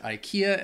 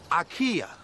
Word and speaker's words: IKEA: pronounces this wrong because in Sweden they they say if I eeka um and even maybe I still might be mispronouncing it but if you're in the US or or Britain I think most people pronounce it Ikea and that's what they understand Ikea yeah get you some